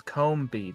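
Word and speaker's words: Combee: name is sounded in English for starters that's Combs I've heard the shows I've heard the show on Cartoon Network where they say Combi yes and that's probably the fourth okay anyway the actual pronunciation is Combi that's how you spell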